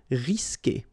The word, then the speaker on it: risquer: Okay, you don't pronounce the U, so risquer.